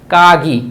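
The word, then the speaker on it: かぎ: কাগি, কাগি বা খাগি। জাপানিজরা অনেক সময় কর উচ্চারণটা খর মতো বলে থাকে।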